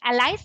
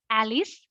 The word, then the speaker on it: allies: would request you to check the pronunciation of allies it is allies and not alice there were many good